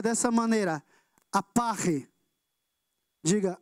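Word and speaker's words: ἀπαρχή: Mas ela em grego, ela se pronuncia dessa maneira, aparre. Diga, aparre.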